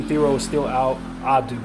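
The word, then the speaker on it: Adou: And Abdu Theoro is still out. Adu, I say his name wrong. There's no be there.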